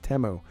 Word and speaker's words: Temu: at once that was the first time I've actually heard it pronounced temo uh Tech is amazing